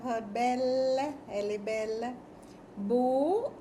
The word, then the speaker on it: beaux: Beaux is plural, pronounced pronounced the same way. The X is silent.